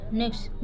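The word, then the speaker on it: next: नेक्स्ट देखिए एक्स के बाद टी आया हो तो हमेशा वो साइलेंट रहता है।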